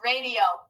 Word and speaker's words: radio: re d o nice radio so remember we have that open exception because the eye is not making the expected sound of i it's making the sound e good to spell that away